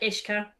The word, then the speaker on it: uisce: So yeah, Ishka. That's where the name comes from. We like Ishka.